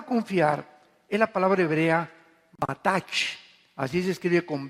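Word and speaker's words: בטח: La palabra confiar es la palabra hebrea batach, así se escribe con B de burro, batach. La CH en hebreo se pronuncia como J, o sea, es bataj.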